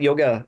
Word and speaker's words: yoga: of those words and if you were taught Sanskrit you call it yoga and it's really yog yog yog you know I mean